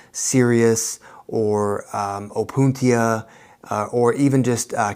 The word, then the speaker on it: Cereus: endless amounts of different cereus cacti, which is pronounced the same way as like you're being too serious, but it's C-E-R-E-U-S.